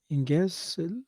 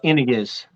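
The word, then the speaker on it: Iñiguez: Inges. Luz Inges. You might know how to pronounce her name. Yeah, that's my deal. Okay. Iniguez, is it? It's Iniguez. Inges.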